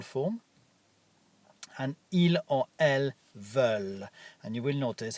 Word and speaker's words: veulent: And il or elles veulent. And you will notice I don't pronounce the ENT at the end. Ils veulent.